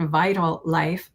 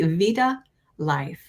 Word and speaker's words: VitaLife: And I pronounce it Vital Life, but it's really Vita Life.